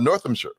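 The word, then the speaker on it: Northamptonshire: Northamshire. So, North uh Northamshire. North. Yeah, I got to say it right. They staple it all together.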